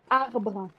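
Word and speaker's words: arbre: Arbra.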